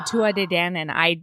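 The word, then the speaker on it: Tuatha Dé Danann: say that word because there are a lot more consonants in there than they pronounce.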